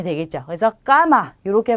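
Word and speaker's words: cama: 그래서 까마 이렇게 발음하시면 되고요.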